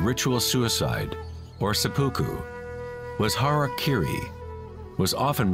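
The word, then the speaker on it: hara-kiri: one form of ritual suicide or seppuku was hara kiri was often mispronounced as harry kerry it means to impale one's hara thereby cutting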